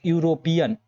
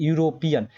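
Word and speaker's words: European: आप लोग का हिंदी जो उच्चारण होता है उसके अनुसार लगता है जैसे यहां पे इसको पढ़ोगे तो यूरोपियन ये यूरोपियन तो यहां देखो ए रहा है तो यह क्या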